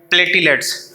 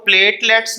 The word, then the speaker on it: platelets: सबसे पहले तो ये बात जहन में रखिएगा कि इसकी प्रोनाउंसिएशन में इसको प्लेटलेट्स भी पढ़ते हैं और प्लेटिलेट्स भी पढ़ते हैं, तो दोनों लिहाज से ये सही प्रोनाउंसिएशन है।